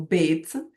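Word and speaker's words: ב: Então o bit ele tanto pode ter som de B como pode ter som de V.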